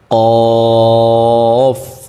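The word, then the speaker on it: ك: কাফ এটা মুখ থেকে হবে গলা থেকে না লাম লাম মিম মিম নুন ঠুট গোল করে পড়তে হবে।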